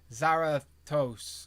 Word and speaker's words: Zarathos: Zarathos. See, my brain keeps saying toast. It's not. It's Thos. It's Thos.